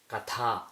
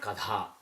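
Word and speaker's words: कथा: For example, if you take this word, the correct pronunciation is katha, not kadha.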